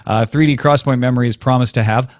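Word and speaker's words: XPoint: Cross Point which is spelled x p o i n t but they insist that you pronounce it Cross Point uh 3D Cross Point memory is promised to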